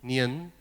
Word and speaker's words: 年: Nian ini bacanya gimana? 年 Nian, ya, Nian.